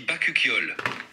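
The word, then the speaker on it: bakuchiol: dit bacuol ou bacol on dit bacol la prononciation se rapproche de bol très bien merci chat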